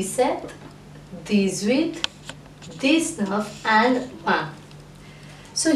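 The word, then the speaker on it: sept: and DS now please remember the number 7 mispronounced test set and not set the beer is silent now let's move on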